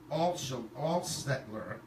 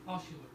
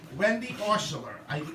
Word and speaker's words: Oshuler: So the first person is Wendy Alstetler. I said that wrong. How do you say her name? Oshuler. Thank you. Wendy Oshuler.